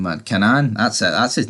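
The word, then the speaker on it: Kanan: He already does tell Canan, or whatever you pronounce his name, man. Canan, that's it.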